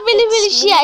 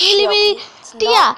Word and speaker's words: Mini Militia: It's not Mili Mili Shia. It's Mili Mili Tia. T-I, not S-I.